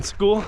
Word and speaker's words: Skool: Club on school and school's platform is spelled SK o o l it's cool you know cool with a K of course but when I started